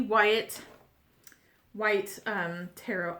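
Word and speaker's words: Waite: our a e Wyatt white um Tarot I want to call it Wyatt and I catch myself doing that so you don't have to correct me because I know I'm saying it wrong it's just like um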